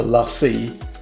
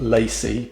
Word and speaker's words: LaCie: is this is the lassie yeah i know it spells lacy but this is actually pronounced lassie you put it down